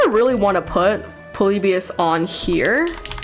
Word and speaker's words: Polybius: because I've been saying polybus which makes sense to me but there is an extra I in there so I don't know